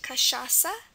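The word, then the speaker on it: cachaça: c a c h a CA but it's pronounced kasasa kasasa so it's written like this Ka sha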